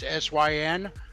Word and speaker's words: Syn: like that it's yeah my name is just like what i mean it's syn but it's just like the the vile things that you do when you commit a